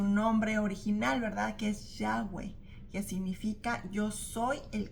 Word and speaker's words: Yahweh: más cercano según los eruditos, de cómo se pronuncia el nombre original de Dios es Yahweh.